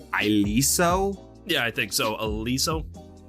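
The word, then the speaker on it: Iliso: yeah I think so Aliso I thought it was ILO when they talked about it but it's spelled i-l-e-s-o and it is set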